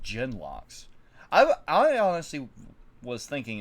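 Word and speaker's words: genlocks: and slaughtered the carter like genmos oh it's pronounced gen locks i i honestly was thinking it was gen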